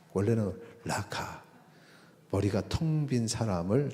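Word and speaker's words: ῥακά: 그런데 미련한 놈이라고 쓴 것도 제가 궁금해 가지고 어 그 원어를 왜 라가는 라카 원래 라카 이렇게 발음이 라카 이런데 이거는 원어로 썼는데 미련한 놈은 나 번역을 했지 그래서 궁금해 가지고 봤더니 그 문장 사이에 모래 이렇게 써 있어요.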